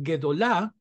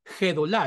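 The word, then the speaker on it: גדולה: explosivo como en gato debe evitarse el error de pronunciarla Suave como en Gema donde suena aspirada como la H inglesa o la J caribeña por eso en palabras como guedolah nosotros la transcribiremos siempre como guedola porque de otro modo algunos lectores tienden a pronunciarla como si dijera gedolá Y eso es incorrecto En estos casos nos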